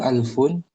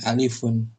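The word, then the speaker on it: ألف: angka berikutnya angka 1000 alfun alfun gitu bukan alifun kalau alif huruf alif ini Alamnya sukun alfun.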